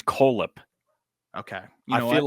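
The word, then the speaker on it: Kohlhepp: coip Tigers Cole Heap do do you pronounce I feel like if there's two h's right it's k h l h p p feel like I have to say coap I so I disagree I think it's coip okay you know I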